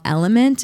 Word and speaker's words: LMNT: There's a company called Element. It's spelled LMNT.